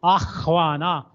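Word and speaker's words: आह्वान: They say Avana. Nobody pronounces Ahvana, Ahvayate. Hva, it should come like that. Ahvana. We say Avana, Avana.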